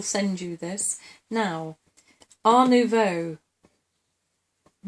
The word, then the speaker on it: nouveau: What's the correct pronunciation? Nouveau.